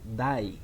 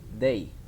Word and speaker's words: day: they it is not die never say die is very common mistake the correct pronunciation is day great what about this